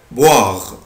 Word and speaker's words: boire: verbe boire، boire، boire يعني يشرب. عود نفسك الاو اي او الاو اي بالانجلش بنطقها وا.